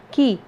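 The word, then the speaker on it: quay: tempted by the key it is key pronounced ki okay ki that is the harbor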